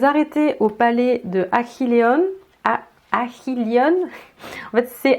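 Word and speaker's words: Achilleion: Achilleon. En fait, c'est H ou H, ça se prononce H.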